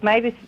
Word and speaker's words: Mavis: You said it right because you said it the way because Mavis, the name comes from the bird Marvis, like you said, and Marvis is the songbird of spring, and John Keats wrote poetry about.